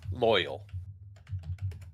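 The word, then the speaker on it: Loial: And is it Loyal? Loyal. Loyal. Oh. Yes. Loyal. He just replaced the Y with an I in loyal.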